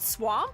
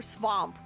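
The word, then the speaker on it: svamp: I'm so excited with the V, not swamp. Swamp. Nice. Okay. Hell yeah. Noted. Oh, do you know why I was doing that? You know why I guessed swamp?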